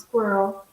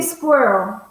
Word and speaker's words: squirrel: How do you pronounce squirrel? I like the different pronunciations. Okay, all right. Let's go for it. Yeah, it's a good question to start with. Yeah. I say squirrel. I say squirrel.